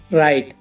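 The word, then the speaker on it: write: For example, wrong, राइट और राइटर। इन सब में आर से पहले डब्ल्यू आया हुआ है तो डब्ल्यू साइलेंट है इसमें।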